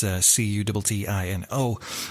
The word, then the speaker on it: Cuttino: So a month later, Donald kidnapped, raped, and murdered Peggy Cutino. You do apologise if I pronounced that surname wrong. It's Cuttino.